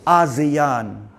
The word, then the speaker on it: ASEAN: Asian refer to a-s-i-n this week we say asean you are an Asian right you are an Asian right Asian yes I mean but I'm now residing in an asean country asean just pronunciation okay okay I have